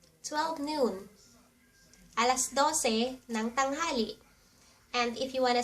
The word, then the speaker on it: tanghali: And since it's 12 noon, you say, Alas dose ng tanghali. Noon or tanghali. Tang ha li Tanghali.